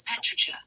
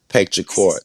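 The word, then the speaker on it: petrichor: The name of the smell of rain is petri. Petra court. Siri said it wrong. It's Petra. Petra court.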